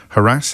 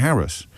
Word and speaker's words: harass: Harass Harris. It's one of those words, isn't it? How do you pronounce it? I say harass, but sometimes I catch myself saying Harris.